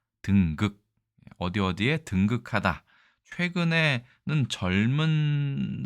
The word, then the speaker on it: 登極: 바로 보시겠습니다 일단이 글자는 우리가 보통 등극이라고 읽습니다 등극 어디 어디에 등극하다 최근에